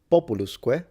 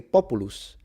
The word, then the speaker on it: populus: The reason is because if you say populus it means people but if you say populus it's a tree.